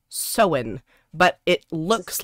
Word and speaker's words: Samhain: began with an s right yes uh it's pronounced so in but it looks like it's spelt samhain and a lot of people pronounce it samhain and it's not it's so so when yeah